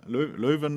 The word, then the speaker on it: Leuven: obtained his uh phd degree from ku leuven leuven as you pronounce it in electrical engineering and he's a